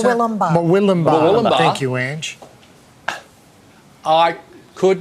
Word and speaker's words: Murwillumbah: How do I pronounce that? Murwillumbah.